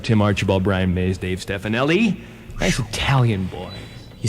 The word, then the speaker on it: Stefanelli: Delp, Barry Goudreau, Tim Archibald, Brian Maes, Dave Stefanelli. Nice Italian boy. You said it right. That's great. Is that right? First guy that's ever What do they said it usually right. say? They go, Dave Stefanohulo.